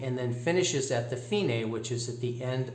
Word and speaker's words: Fine: then finishes at the finae which is at the end of the second line there where you see the word fine it's actually pronounced feeney that means that's the